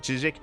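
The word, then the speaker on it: CHZZK: I did look into how to pronounce it. Chijik.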